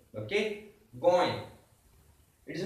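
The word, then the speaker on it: गोंय: You have nasal pronunciations here. Okay, going. It is not goy.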